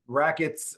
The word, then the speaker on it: RAQTS: I see RAQTS, of course. I assume that's pronounced just like rackets, even though it's RAQTS.